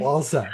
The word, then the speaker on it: Walczak: we The C is silent. Sorry. Walzak. Okay, there we go. See, we Jordan thought Walzak.